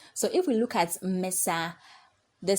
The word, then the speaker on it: Mesa: syllable which is me we have to pronounce me louder than S so we have me S so I raise my